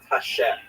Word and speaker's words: Hashem: And then underneath, you see it has the words Tehillat Hashem, which means the Psalms of God or the Songs of God. And the word Hashem, of course, is pronounced with the letter H, but there is no letter H in the Russian alphabet.